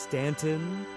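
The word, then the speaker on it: Staunton: Stanton, Virginia. Pronounced Stanton.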